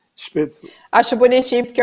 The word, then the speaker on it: Spätzle: a minha dica, espeto, escreve SPA com trema, acho que é TZEL. Eu Não, acho bonitinho porque. LE. O L antes do E. Spätzle.